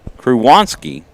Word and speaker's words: Krzywonski: Due up in the third for the Grizzly, Campbell Kruwanski. It is one of those names that are kind of complicated. It's spelled Krzywonski. Kruwanski.